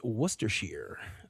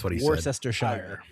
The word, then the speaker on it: Worcestershire: It is Worcestershire. Three syllables named after a county in England, not Worcestershire.